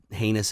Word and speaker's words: heinous: We're like that asshole that ends up ending something horrible by committing a heinous act. Heinous, that rhymes with anus.